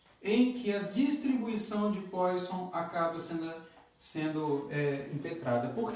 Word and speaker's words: Poisson: Então, com isso daqui nós vamos agora trabalhar um pouquinho com a distribuição de Poisson, ou Poisson, né, como alguns também pronunciam.